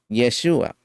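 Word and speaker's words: ישועה: quedéis callados aquí mis la palabra hebrea para salvación es yeshua con el acento en la a el nombre de masia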